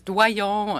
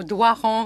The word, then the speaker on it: Doiron: I have a friend whose name is Doiron, family name, and he also often heard his name pronounced as Doyon and Dorion and so on. So Doiron, let's say that correctly.